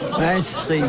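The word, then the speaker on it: Maastricht: Maestrich. Maestrich ça se prononce comme ça.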